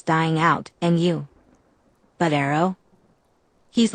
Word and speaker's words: Aro: 2 syllables, 3 letters. Arrow.